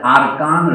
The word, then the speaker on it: আরাকান: আজকে আমরা সকলে আরাকান বলি, কিন্তু আমি লক্ষ্য করলাম প্রথম সংস্করণ লিখছেন আরকান। এটা অনেকের মধ্যে ধারণা আছে, মানুষের মুখে এটা আরকান উচ্চারণ করি না, আমরা আরাকানই বলি, কিন্তু ওনারা আরকান লিখেছেন।